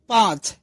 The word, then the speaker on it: পাঁচ: শোনা যায় না অর্থাৎ চন্দ্রবিন্দুর উচ্চারণ অনেকটা নাক দিয়ে হয় এবং এটি স্বরধ্বনিকে আশ্রয় করে উচ্চারিত হয় যেমন পাঁচ এখানে চন্দ্রবিন্দুর যে উচ্চারণটা